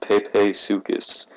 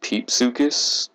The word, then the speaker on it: Pepesuchus: i think it's pronounced pepe sukis it could be peep sukis i think it's pepe sukis though um it lived in